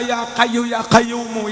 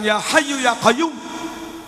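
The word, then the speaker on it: يا حي يا قيوم: Orang awam kadang membacanya ya kayu ya kayumu, ya kayu ya kayumu, nggak bisa fasih. Katanya orang kuno dulu kalau wirid bukan ya hayu ya kayum, tapi katanya yo kayuku yo kayumu, yo kayuku yo kayumu.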